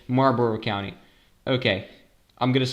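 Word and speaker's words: Marlboro: So Mar County is one of the counties pronounced Marbor. Marbor is like that. So we don't pronounce the L.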